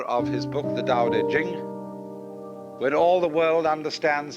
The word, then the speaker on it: Ching: be pronounced Ching but it's Jing like a j and so Jing in